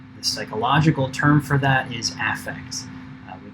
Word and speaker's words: affect: effect so when something affects something else and then there is affect which has this maybe slightly stronger emphasis on that first syllable and is uh the psychology word for outward expressions of emotion so if you ever